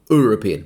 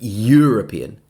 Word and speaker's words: European: If my noun phrase is European country, well, this also begins with the letter E, but not with a vowel sound. It's with a Y sound. European. Not European, but European.